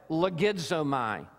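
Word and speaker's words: λογίζομαι: I'm going to pronounce it only because you will hear the English word inside of it, logizomai. You can hear logarithms or logic in this verb.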